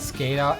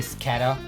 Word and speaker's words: Scatha: YouTubers say it and they say it like scada and I don't want to say scatter I'm just saying